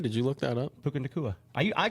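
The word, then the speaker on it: Puka Nacua: pronounce that correctly? Did you look that up? Puka Nakua.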